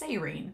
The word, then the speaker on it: Seirin: It's Seirine. I'm going to do my best. I don't guarantee I'll get it right all the time, but I'm going to try my best to do Seirine.